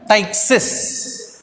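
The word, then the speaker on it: ptyxis: P is a silence. Tyxis. We have to pronounce it as Tyxis.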